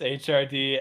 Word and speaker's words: Hrdlichka: Yeah, well, I'm Hrdlichka, if anyone's able to pronounce that. It's Hrdlichka. Yes, there's only two vowels in my entire name.